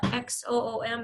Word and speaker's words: Xoom: So as soon as they do, I'll link it to the XOOM. Is that pronounced Zoom too? Yeah, I think so. I think it's pronounced Zoom.